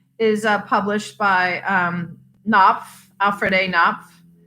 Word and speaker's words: Knopf: uh published by um naff alfred a knopf my mother says the k is silent something else she has